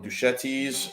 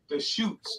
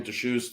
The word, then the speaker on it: Deschutes: Haze Sean IPA from Duchetti's, if I'm pronouncing it correctly. Yeah, Duchette. Duchette's. No. The shoots. Pardon me. yeah, Oregon. Yeah, from Bend, Oregon. Deschutes, the Haze-tron IPA.